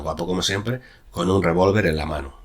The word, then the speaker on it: revólver: veía, en aparecía y con tilde en revólver, en la segunda sílaba, con una coma tras siempre, como he explicado antes, ¿no?